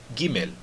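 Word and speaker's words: גימל: Por exemplo, quando eu falo papel e não papel, tá certo? No hebraico é diferente. Eu digo Gimel e pronuncio esse L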